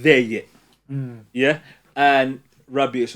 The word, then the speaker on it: Rabiot: Rabiot. Rabiot. Rabiot. Yeah. Rabiot. He's a- No. Rabiot or whatever. You don't say the T. Rabiot.